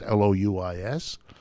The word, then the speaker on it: Louis: I began reading and looking, and he had a funny French name, Louis, as they pronounce it in France, Louis.